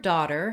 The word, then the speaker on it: daughter: So the word daughter has an unusual spelling. We have the letters A-U-G-H, and these all just say the ah vowel.